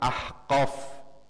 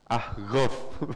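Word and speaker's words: أحقاف: termasuk misalnya kalau kita ahqof ahqof gu ya kalau di Yaman bunyya bukan ahqof ahghof pakai gain ya itulah terkadang dialek atau pengucapan itu terkadang beda nih walauya Allah jika Allah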